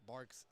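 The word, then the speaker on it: Barq's: Bark's not really or I believe I've heard different pronunciations, but I do pronounce it bark.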